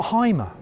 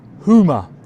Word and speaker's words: Hymer: discovered that it's not Hymer. You don't pronounce it Hymer. And we've been pronouncing it like Hymer for eons, decades. It's actually pronounced Hoomer.